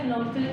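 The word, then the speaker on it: phenolphthalein: फिनोल्फ्थेलीन, फिनोल्फ्थेलीन, पी थोड़ा सा कम इसमें वो होगा, प्रोनाउंसिएशन साइलेंट सा रहता है।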